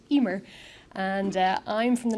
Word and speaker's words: Eimear: name is EMR it's an Irish name with way too many letters um but it's pronounced Emer and uh I'm from